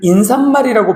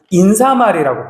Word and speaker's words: 인사말: 시옷 붙이는 건 맞는데 인사말의 경우는 얘는 인사말이라고 발음하지 않고 인사말이라고 발음을 해.